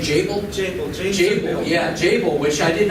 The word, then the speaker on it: Jabil: Am I pronouncing that right? Jabil? Jabil, yeah, Jabil, which I did not know about until coming to Florida.